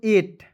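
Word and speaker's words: eight: एस टी पढ़ेंगे दोस्तों एट ए और ट इ ईट नहीं पढ़िएगा ए ई को पढ़ेंगे ए और आई जी एच टी का उच्चारण ट के रूप में करेंगे हो जाएगा एट क्लियर उसके बाद देखेंगे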